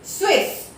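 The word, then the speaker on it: Suisse: S-U-I-S-S-E, Swiss.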